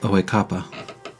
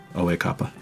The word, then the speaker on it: Oekapa: My title is Oekapa. Can you spell that? Sure. I'm gonna spell it phonetically, and then I'll give you the Ural spelling later. O-H E with the accent mark. Kappa, K-A-P-A. Oekapa.